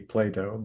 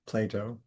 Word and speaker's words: Plato: Because most people pronounce his name like with a D, Playdato, but it's a T, Plato.